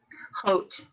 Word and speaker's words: Haute: Haute. Haute, like haute couture, Haute Haute, couture.